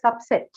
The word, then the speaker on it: subset: What is a subset? Subset. First syllable? Why so? Noun, right? That's why.